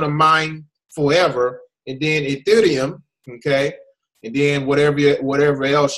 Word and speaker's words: Ethereum: Actually, I think it's pronounced Ethereum. Ethereum, right? Ethereum. You gotta Ethereum. add that. You gotta add that. You gotta roll your tongue with that R.